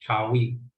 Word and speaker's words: Tawi: It's pronounced Tawi, the two lands.